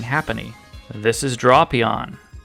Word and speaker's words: Drapion: This is Drapion, not Drapyon.